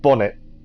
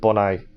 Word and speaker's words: Bonnet: many a pirate did i think monet pronounced the t at the end of his name oh said bonnet instead of bonnet but yeah a sad